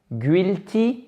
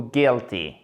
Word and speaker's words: guilty: Guilty ou guilty? Eh bien évidemment, c'est la seconde solution.